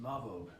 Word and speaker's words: Lámhóg: It's spelled a little funny, but it's pronounced Lámhóg according to my Irish friends who schooled me on the way to pronounce it.